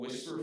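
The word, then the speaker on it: Wispr: is a tool that I've been using called Whisper Flow. It's spelled W I SP R.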